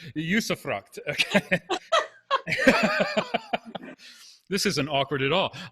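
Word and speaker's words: usufruct: this discussion um and i'm going to try to pronounce it right um yusuffruct okay um and if that didn't come across right on zoom forgive me but uh but i'm telling you google tells me that's how to pronounce it usefruct this isn't awkward at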